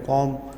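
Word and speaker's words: comb: people ओ silent है कॉम B silent है honour का एच आर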